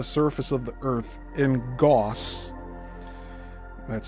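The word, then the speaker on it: gauss: Actually, the magnetic field density at the surface of the Earth in Goss that's spelled G- A US SS is approximately 0.5 lines per centimeter squared.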